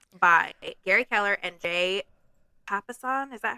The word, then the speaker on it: Papasan: Okay, we are talking about The One Thing by Gary Keller and Jay Papasan. Is that how we pronounce it?